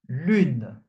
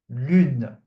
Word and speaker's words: lune: The U and the N are pronounced separately. Une, une. Okay? Une. So, for example, lune, lune, which means moon.